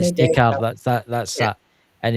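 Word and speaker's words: Descartes: Oh, I can't pronounce it. It's Renie discrete. Is it It was a French philosopher. It's Dear Ren. Decar.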